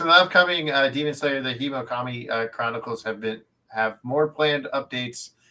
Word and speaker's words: Hinokami: As a developer, it's Hinokami. Hinokami. Yeah. I just can't read. Okay. Japanese, generally, you can break it down into like sounds, into syllables. So it'll be like he, no, ka, mi.